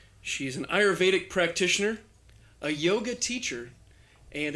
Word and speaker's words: Ayurvedic: and she texted me a pronunciation key, which was I. As an I. You're, Y-U-R, not a word. Vay, V-A-Y, Also not a word. also not a word. Dick. That's a word.